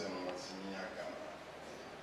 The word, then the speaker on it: Emomotimi Agama: My name is Emomotimi Agama. Just wanted to pronounce it properly.